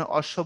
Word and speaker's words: অশ্ব: আবার কখনো তাকে উচ্চারণ করতেই হয় না, যেমন দেখেন অশ্ব বললাম, বফলার উচ্চারণ আছে, ডাবল হয়েছে।